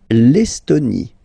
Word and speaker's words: Estonie: L'Estonie, final E, not pronounced.